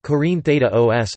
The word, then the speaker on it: Κόρινθος: Corinth, Greek, Corinthos, Corinthos, pronounced Corinthos, listen, is an ancient city and former municipality in Corinthia, Peloponnese, which is located in south-central Greece.